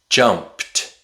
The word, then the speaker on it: jumped: t t The D usually makes a t sound with past tense verbs. jumped jumped It's not jumped.